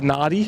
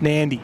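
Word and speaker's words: Nadi: we only just learned that it was actually pronounced nandy yesterday oh did you we've been saying naughty for ages yeah Kurt will tell you about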